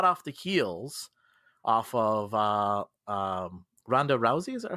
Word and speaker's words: Ronda Rousey: So this comes from hot off the heels off of Ronda Rousey. Is that how I pronounce her name?